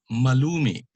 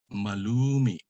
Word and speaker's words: malumi: And just like malumay, the accent is on the second to the last syllable, but it has a glottal stop, a catch in the throat.